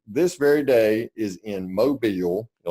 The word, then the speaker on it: Mobile: very day is in Mobile. You like the way I said that? Mobile, Alabama. You almost say it like the locals do.